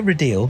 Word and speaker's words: Rideal: would please sure I'm ril thank you for pronouncing my surname correctly that's very kind I